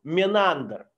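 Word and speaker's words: Menander: смешная вон написа монахом Линда - это такое индийское произношение имени менандр менандр был греческим царём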